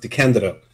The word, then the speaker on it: DeCandido: i must say that my last name is actually pronounced the candidate but that's hard that's